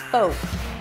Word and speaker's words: Folk: There is no L and the O is a long O as in go.